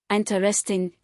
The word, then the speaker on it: interesting: Standard, interesting, stress on i n.